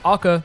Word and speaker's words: Hacca: and he's all H themed, but would still be pronounced AA because he's Italian.